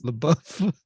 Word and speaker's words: LaBeouf: He's like he's LaBeouf.